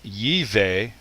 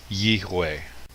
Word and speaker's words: Yahweh: It's possible that the V sound may have come from a Germanic European influence. So rather than Yiveh, it would be Yihweh.